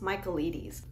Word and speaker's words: Michaelides: Alex Michaelides. I had to YouTube video his name pronunciation.